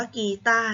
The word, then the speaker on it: กีตาร์: คำ นี้ อ่าน ว่า กีตาร์ นะ คะ รอ เรือ การันต์ ไม่ ออก เสียง เพราะ ว่า มี ไหม